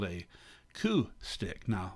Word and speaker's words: coup: really it's called a coup stick now ku c-o-u-p you can tell that's a french word because you don't pronounce half the syllables um the french by